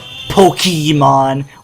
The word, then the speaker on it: Pokémon: to the series saying very cringeworthy pronunciations Pokemon or Pokemons but no it's Pokemon or if even more technically Pokemon but that's kind of hard to say to put the emphasis on the accent Au e so so